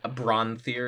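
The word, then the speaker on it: Branthir: fear the magical trunk or brawn fear is probably a better way to pronounce it it's b ra NT h ir yeah and like I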